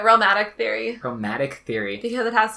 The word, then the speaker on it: Realmatic: Because we're going to dive in real deep to romatic theory. Pronunciation? How am I doing? Yeah, that's how I say it, romatic theory.